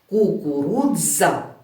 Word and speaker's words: кукурудза: не заплітаю Так це кукурудза де ви почули буква сполучення посередині слова кукурудза будь ласка повторіть за мною кукурудза коли ми вимовляємо ми говоримо це як один звук значить будь ласка запам'ятайте